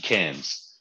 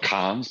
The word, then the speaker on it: Cairns: carrier Cairns I always get confused do you pronounce the s or not yes you do so you cans like like yeah cans not not calms but but cans like like the like French